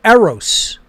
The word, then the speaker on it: eros: were given different words the word eros transliterated in english e-r-o-s in greek it's epsilon rho omicron sigma final sigma eros meant means romantic love